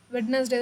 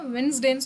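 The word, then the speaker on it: Wednesday: வெட்னஸ்டே தான் சொல்லுவோம். So option C தான் தப்பு. இது எப்படி சொல்லணும் அப்படின்னா வென்ஸ்டேன்னு சொல்லணும். சரிங்களா? என்ன சொல்லணும்? வென்ஸ்டேன்னு சொல்லணும். சரிங்களா? வெட்னஸ்டேன்னு சொல்லாதீங்க, வென்ஸ்டேன்னு ப்ரொனவுன்ஸ் பண்ணுங்க.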